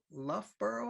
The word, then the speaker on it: Loughborough: A few years ago, just a few short years ago, I think, she moved from the University of Loughborough, I think it's how it's pronounced, University of Birmingham.